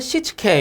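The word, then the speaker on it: 躾: 이거 뭐냐면은 일본어예요. 일본어. 일본어로 요렇게 읽는다라는 거예요. 그래서 정리라는 거 일본어로 세이리, 그 다음 정돈이라는 거 세이톤, 그 다음에 청소, 세이소, 청결, 세이케츠, 습관화를 시치케 요렇게 부른답니다. 일본에서는.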